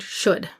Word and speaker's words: should: logical pattern for example the word should there are many different